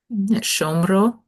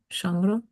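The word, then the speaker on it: שָׁמְרוֹ: The problem is that shmor has the accent on the mem. Over here, it shifts. And that's going to cause all kinds of problems, right? Shomro. Shomro.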